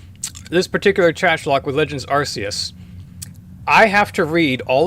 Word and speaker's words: Arceus: Nobody is quite sure how to pronounce this word, so I'm calling, we're gonna say it's Arceus.